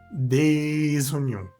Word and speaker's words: des oignons: Des champignons ou encore des oignons. Des oignons. Hacemos la liaison.